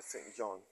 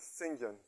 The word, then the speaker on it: St John: daughter married to a St John the right pronunciation is singen as in the person's last name St John was supposed to be singen to Charles Miller Austin